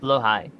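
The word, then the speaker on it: Blåhaj: Whether it's Bionicle, New Vegas, Blahage. Blahage. Apparently, it's pronounced Blowhigh. Yeah, it is Blowhigh.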